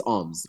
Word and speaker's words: OMZ: Uh, so it's alms, Oms.